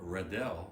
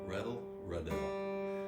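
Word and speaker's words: Reddell: nakam who was from riddell louisiana i don't think i pronounced it right it's red reddle which was just north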